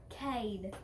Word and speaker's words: Cade: Cade. How you spell it?